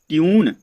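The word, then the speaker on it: tune: यू बी E cube, T यू एन ई ट्यून, एम यू टी E mute, you का उच्चारण निकलना है दोस्तों।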